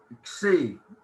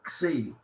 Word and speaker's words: xi: It's Xi, and the way to pronounce it is K-S-E-E, Xi.